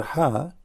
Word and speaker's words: ح: the Circle the letter ha does not have any dot at all ha now how to pronounce letter ha imagine yourself you are getting cold and you are saying it's cold that's ha very simple many they